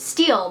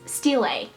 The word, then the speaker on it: stele: I always pronounced it Steel, but it's Stele.